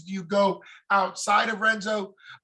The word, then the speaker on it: Renzo: Do you go outside of Renzo? Henzo, I guess I'm pronouncing it with the R, Henzo Gracie.